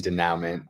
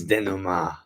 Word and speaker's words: denouement: Yeah, I've been saying denouement. It's denouement.